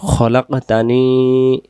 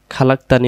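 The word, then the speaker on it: خَلَقْتَنِي: রব্বি রাব্বি পড়বেন না তারপরে খলাকতানি খালাকতানি হবে না উচ্চারণ হবে খলাকতানি আবুদুকা আবুদুকা আবার খলাকতানি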